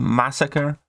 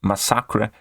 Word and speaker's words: Masacre: it would be called Massacre but he's from Mexico he's Spanish and his name is properly pronounced as masakra as you can notice